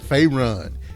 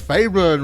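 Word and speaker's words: Faerûn: You know, I don't even know why I try to do pronunciations and stuff like that. Try to act like I'm right. So I said Faerun. It's Faerun, Renee.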